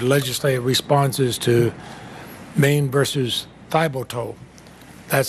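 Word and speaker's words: Thiboutot: responses to Maine versus Thibodeau. That's how the Supreme Court tells me it's pronounced. It's not how those of us who live with those of French-Canadian descent might say it, but you strongly criticize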